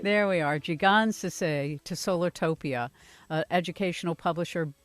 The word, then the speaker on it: Jigonsaseh: say so how do you say that name gee gonzo say there we are G God's to say to solar topia educational publisher biblio publishing release